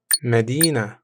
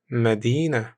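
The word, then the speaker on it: مدينة: simple and Shake d d means lessen listen pronounced d D Medina Medina means City pronounced Medina Medina Medina W what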